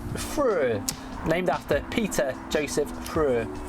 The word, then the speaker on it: Früh: The umlaut on there with the pronunciation, yeah. Früh.